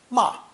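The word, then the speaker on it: 骂: the modern phonosomatic compound pronounced fourth tone ma ma it translates as to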